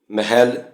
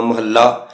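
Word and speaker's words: ਮਹਲਾ: दो था ते उलंघन तो बिना किते भी इना शब्दा का उच्चारण महल ममा हाहे उपर अधिक ज ममा ह अधिक लला कना महल्ला नहीं है सो जद य महल्ला शब्द गुरु व्यक्तियों समधी आवे जिव गोड़ी महल्ला पहला आसा महला पहला आद तद इसका उच्चारण उचे तौर से महल्ला करना अशुद्ध है एक गल हो भी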